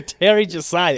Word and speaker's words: TerryJosiah: Don't call him neither. You Yeah, gotta say Terry Josiah. yeah. No space, no hyphen. 11 letters, 5 syllables, the whole thing.